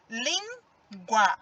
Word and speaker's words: língua: embaixo língua de novo língua é o som mais forte foi da sílaba lin outra coisa a fila